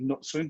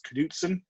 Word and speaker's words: Knutson: robin knutson who um i used to thought was knutson because in the uk the way it's spelt k-n-u-t-s-o-n we would say nut swing because we have a town called knutsford up the road but i've learned quite quickly it's caduzan just for that slight difference in our use of